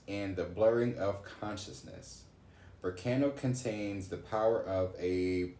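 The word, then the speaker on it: Berkano: And it says, pronounced Burkano.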